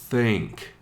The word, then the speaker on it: think: And notice, I really want you to practice lengthening that sound at the beginning. As you're learning and as you're retraining your body and your mind to pronounce TH the English way, it's just going to take time.